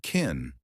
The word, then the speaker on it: can: Can sounds like kin.